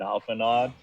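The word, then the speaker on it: Alphinaud: the fact that like apparently the D is supposed to be silent or something? I've been told. Alphinaw, yeah. Okay. I've been pronouncing it correctly. I know. I do play Final Fantasy 14. So, I so figured it's called you'd like be known. Alphinaw. It's Alphinaw. Alphinaw. French. It's a French name.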